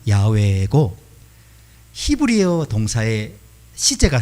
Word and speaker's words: 야훼: 실제 히브리어 원래 발음은 야훼고 히브리어 동사의 시제가 세